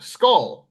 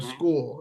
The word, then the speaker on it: Scull: for in the sense of a skull, right? Or school is how he likes it pronounced.